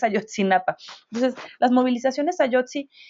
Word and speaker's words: Ayotzinapa: El otro día dije: ¿Yotzi quién? No, no, no, es Ayotzinapa.